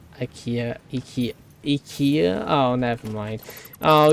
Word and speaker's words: IKEA: Also, IKEA, pronounce the E in IKEA more.